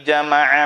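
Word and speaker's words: جَمَعَ: Wailul likulli humazatil lumazah allazi jama'a malan wa'addadah. Jama'a, jangan ditasydidnya. Ditasydid boleh kalau sudah ngaji qiraat.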